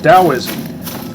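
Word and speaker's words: Taoism: In Dowoism, which is spelled with a T but pronounced with a D, I can't even imagine why that is.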